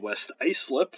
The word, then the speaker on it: West Islip: island new york specifically from a place called west islip that is how that is pronounced um as the semester goes on the